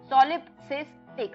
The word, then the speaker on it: solipsistic: SOLIP सॉलिप, सिस SIS TIC tick, सॉलिपसिस्टिक, सॉलिपसिस्टिक।